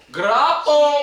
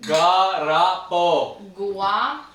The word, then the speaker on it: guarapo: Guarapo! Cheers. How you say it? Guarapo. Yeah, that's Guarapo. Guarapo.